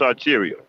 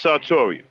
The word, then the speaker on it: sartorial: have an accent so i always pronounce this arterial but it's saltoria yeah i have my